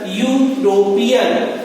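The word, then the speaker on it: European: हम एन भरते हैं, क्योंकि इसका प्रोनाउंसिएशन यूरोपियन, यू निकल रहा है, प्रोनाउंसिएशन यू से निकल रहा है, तब हम यहाँ पर ए आर्टिकल का प्रयोग करेंगे।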